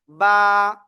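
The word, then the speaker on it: ب: বা। এক আলিফ টান হবে, কয় আলিফ?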